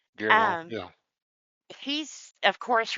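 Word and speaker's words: Guillermo del Toro: Gelmore Toro? Del Ge- Toro. Del Toro. Guillermo.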